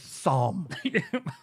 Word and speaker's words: Psalm: crazy my name is Psalm I'm sorry the silent p ad Saint here Psalm